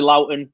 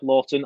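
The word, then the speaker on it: Lowton: Tarky in the centre, probably Loughton at right back. Sorry, Lawton. I always pronounce his name wrong.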